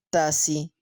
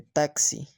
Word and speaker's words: taxi: síndrome con tilde cinco pronunciar tasi en lugar de taxi seis pronunciar aire en